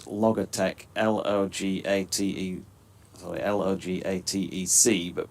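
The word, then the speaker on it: Logatec: two after seven uh because he he spelled Logitech l-o-g-a-t-e sorry l-o-g-a-t-e-c but pronounced Logitech apparently for all to be honest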